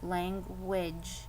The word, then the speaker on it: language: okay that sounds okay but u-a-g-e doesn't make the sound we think it sounds like the u is making a w sound language and the a is making an i sound and this e is silent so instead of confusing